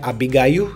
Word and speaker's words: Abigail: a Abigail on bom para gente aqui é Abigail certo mas em inglês é Abigail e o